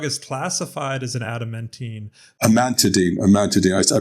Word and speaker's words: amantadine: Amantadine. I pronounce.